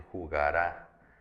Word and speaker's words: jugará: Si esta palabra jugara yo le pongo un acento en la última A, entonces ya se convierte en jugará.